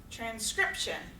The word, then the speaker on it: transcription: 2 left, transcription. Transcription, also on that second syllable.